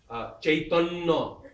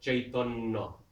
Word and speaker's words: Chaitanya: Take the first syllable and you double it. Actually, you add an aspiration as well. Parikshit. Parikshit. Chaitanya, Chaitanya.